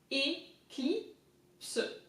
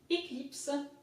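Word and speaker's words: Éclipse: So it makes E, cli. Again, I is I in French. Eclipse. Eclipse.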